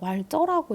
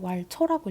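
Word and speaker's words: Walzer: 이 Z여서 왈쩌라고 읽기도 하고 왈처라고 읽기도 하는데 선생님은 대학생 때 왈쩌라고 배웠기 때문에 왈쩌라고 읽을게요.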